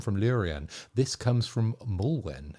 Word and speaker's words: Mulewn: This comes from Mulewn. Is that how we pronounce his name? I know we got it right a couple of episodes ago, but normally I'm pretty bad with names.